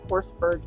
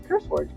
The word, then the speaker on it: CurseForge: So with the new update, go in, if you're using CourseForge app, you really want to go into CourseForge. CurseForge? I'm saying it wrong. CurseForge.